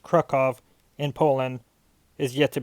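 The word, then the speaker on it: Kraków: that's going to be in the donsk OR Krakow which is actually pronounced krukov in Poland is yet to be determined I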